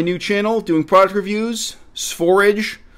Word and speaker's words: Sv4rige: This is my new channel doing product reviews, Sphorage. Rhymes with forage.